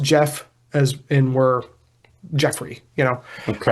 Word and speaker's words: Gef: Now Jeff is spelled Gef in this very particularly, but it's pronounced Jeff as in we're Jeffrey, Okay.